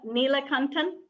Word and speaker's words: Neelakantan: Yes. Neelakantan. Neelakantan. So a lot like it sounds.